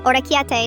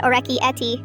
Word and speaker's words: orecchiette: It's penne, not penny, orecchiette, not orecchietti.